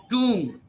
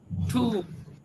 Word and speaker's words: tomb: And tomb, Tomb is pronounced tomb. Tomb is not pronounced Tom, it is pronounced tomb.